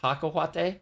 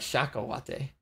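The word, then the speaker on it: cacahuate: It's pronounced kaka huate. Kaka huate. Oh, kaka wait. Then what did I say? You said like shaka huate.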